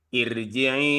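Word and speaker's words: ارْجِعِي: perlu yang saya sampaikan ketika membaca iri itu dibacanya tebal, Pak. IR iya ir karena ini ini pengecualian ro sebelumnya didalui oleh hasrah itu memang tipis tapi ini pengecualian di sini.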